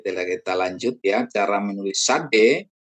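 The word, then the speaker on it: צ: Cara menulis sade. Pengucapan seperti Anda melafalkan notes ya. TS itu sade.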